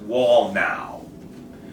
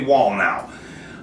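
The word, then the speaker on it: Wallnau: WN was WN now I don't know how to pronounce it it's w l l n a so I'm going to say wall now um he is his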